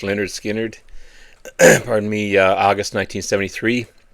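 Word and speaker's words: Lynyrd Skynyrd: This is their debut album, pronounced Leonard Skinnard, pardon me.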